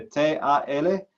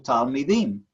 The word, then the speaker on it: Talmidim: Se escribe T-A-L-M-I-D-I-M.